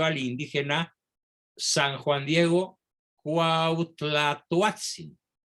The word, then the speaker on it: Cuauhtlatoatzin: indígena san juan diego cuauhtlatoatzin repito la pronunciación muy difícil de la uat cuauhtlatoatzin quien había sido bautizado